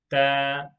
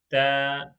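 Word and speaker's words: تاء: in box number three the third letter is da da like in english we say t the letter t in arabic is that box number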